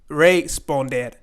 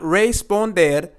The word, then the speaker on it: responder: not going to say re sponder not responded but we are going to say responder this word here is